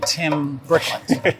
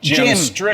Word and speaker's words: Jim Strickland: Tim Brickland. Tim Brickland. He was a city councilman. I think that right? rhymes with it. It's Jim Strickland.